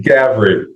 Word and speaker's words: Gavre: Uh, Grey, is it Gavrey? Did I pronounce that correctly? Gavry. But that that's my names are important. G- A V R A.